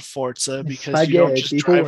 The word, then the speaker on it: Forza: the internet call it forza horizon five i don't care if that's correct the pronunciation is five zero yeah i don't care if forza has a t sound in it i refuse to believe